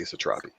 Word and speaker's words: Satrapi: read this book and i am gonna say satrapi i always i never wanna i i never wanna get anybody's name wrong i always feel bad feeling mispronouncing that